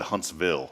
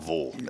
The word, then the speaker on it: Huntsville: I thought I said, is it pronounced Huntsville or Huntsville? And the majority of folks, 75%, I did the scientific survey here. Actually, it was 74%, raised their hand and said Huntsville, not Vull.